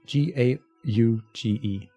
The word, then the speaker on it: gauge: get it dawn got thing how do you pronounce it GA u GE gauge gauge exactly thank you gauge on my